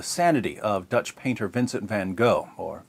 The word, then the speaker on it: Van Gogh: defense of the sanity of Dutch painter Vincent van Gogh or van Koch or van ho or Van Gogh depending on where you're from